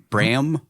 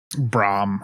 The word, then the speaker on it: Bram: named Bram Stoker I think is his name Bram braam I think is how people proun Brian braam